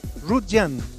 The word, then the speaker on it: Rutllant: como le dice el pp youtube está bien pronunciado suave russian es el español de origen catalán don peppers